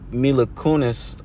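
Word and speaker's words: Mila Kunis: Book of Eli all right when uh mil milakunis I that's how you say her name but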